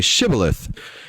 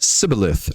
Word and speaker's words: Shibboleth: And when he said no, they said to him, then say Shibboleth. And he said Sibboleth, for he could not pronounce it right.